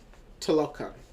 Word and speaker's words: Talokan: I can pronounce it. It is Talokan.